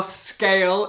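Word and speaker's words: Sgaeyl: This, by the way, is how scale is spelled. And you say it out loud and realize, oh, it's scale.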